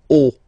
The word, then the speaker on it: haut: Okay, final T not pronounced, and then this H as previously, you don't pronounce it, so this is haut.